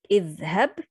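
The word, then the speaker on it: اذهب: If I start with the word, I pronounce it, but if I connect, I don't pronounce it. Idhhab, idhhab, this is how I start.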